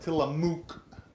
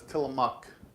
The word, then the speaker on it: Tillamook: It's spelled so it looks like Tillamook, but it's Tillamook.